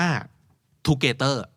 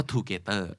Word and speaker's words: together: ว่า อ๋อ อ๋อ มัน ไม่ ใช่ คำ ว่า ทูเกเตอร์ ใช่ ไหม ครับ ถ้า เกิด ออก เสียง อย่าง บ้าน แล้ว ก็ Together ใช่ ไหม แต่ ถ้า เรา รู้ ว่า เขา